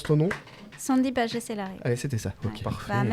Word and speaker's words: Sandy Pagès-Hélary: nom C'est comme Pardon ça qu'on prononce ton nom Sandy Pagès-Hélary.